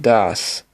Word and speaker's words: das: Words use der pronounced der when they are masculine. They take die, pronounced die, when they are feminine, and das, pronounced das, when they are neuter.